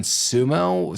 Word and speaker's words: Xumo: Oh, we watched it on Sumo, spelled with an X, and so XUMO, and I found it, and I was able to put it on my phone.